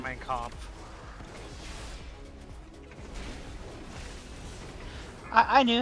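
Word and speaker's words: Mein Kampf: dead serious dude's got mine camp on his bedside table you know that's how you pronounce that by the way is mine Camp I'm I'm sure that is a recognizable German mine comp I I knew how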